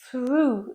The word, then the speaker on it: through: Be careful when you pronounce it. when you hear someone talk about through that you think about the context because through sounds like through which is the past of throw.